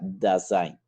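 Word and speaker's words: Dasein: llamaría como saint de esta palabra es alemania y se pronuncia se escribe así nacen pero se pronuncia de sainz que traducía en la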